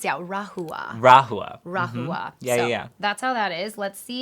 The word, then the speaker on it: Rahua: How is this pronounced? Yeah, rahua.